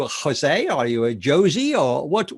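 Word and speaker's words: José: sir are you a jose are you a josie or what how do you how do you like to be referred to jose is perfect and although you can't you can say josie joe whenever you want whatever you feel more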